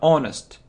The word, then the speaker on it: honest: honest person he's honest so we didn't pronounce this sound not honest not honest he isn't an honest